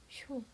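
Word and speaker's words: しょ: 발음 어떻게 될까요? 쇼.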